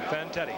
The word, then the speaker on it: Fantetti: Vanetti. Fantetti.